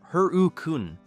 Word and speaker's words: Hurricane: Hurricane, Utah, pronounced Her-u-kune by locals, which feels like an act of defiance toward geography, sits in Washington County near St.